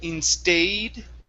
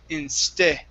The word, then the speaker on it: instead: word instead right here instead of in stayed okay give me a short e instead instead instead okay now